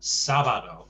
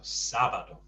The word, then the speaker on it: sábado: So sábado, the stress on, there's an accent on the first A. So sábado.